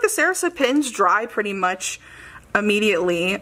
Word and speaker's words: Sarasa: tooy River paper planners I think I said sarsa again anyways did I spell that wrong I did sarasa I do like this